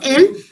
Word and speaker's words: elles: ELLES is also pronounced as L, and ELLE is also pronounced as L.